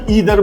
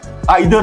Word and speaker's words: either: कुछ लोग ईदर बोलते हैं, नीदर बोलते हैं, बट इसका प्रोनाउंसिएशन जो एग्जैक्टली होना चाहिए, जो एज फार एज I know it इज ईदर है और ये नीदर है, आइदर है और नाइदर है।